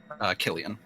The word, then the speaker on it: Cillian: Cillian, is that how you pronounce it, Cillian? Killian.